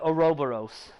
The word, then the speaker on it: Ouroboros: The reason I pronounce it like that is because the first time I heard the word was from Full Metal Alchemist. So I pronounce it Ouroboros. It's just like, yeah, that's a U. However, it's a Greek word. It's not necessarily pronounced the way it's spelled.